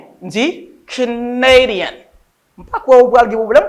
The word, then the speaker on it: Canadian: Mais quand il y a pour Canadien, on connaît deuxième syllabe là, forme stress là. OK? Mais on pas prononcer comme si même Jacques ça, mais ma prononcer comme son A, donc A ça, on prononcer comme un A.